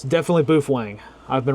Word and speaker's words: Baofeng: Is Baofeng pronounced Boofwang or Baofeng? It's definitely Boofwang.